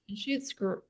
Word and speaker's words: Anschutz: Anschutz. You got your pronunciations down today.